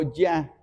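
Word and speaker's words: Jah: La palabra ja que aparece aquí, el nombre ja es el nombre en hebreo para Dios. Así se pronuncia. Ja o ya y significa Dios.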